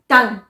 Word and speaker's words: tongue: इसके अलावा अगर यू ई किसी वर्ड के एंड में आ रहा है तब भी यू साइलेंट रहता है, जैसे डंग, टंग, TONGUE, टंग।